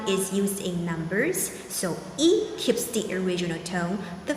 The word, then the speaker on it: 一: the one thousandth time in this case e changes tone to the fourth tone when it's followed by